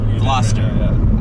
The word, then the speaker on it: Gloucester: did i say it right that time yeah gloucester okay i call it a velocitor velocity the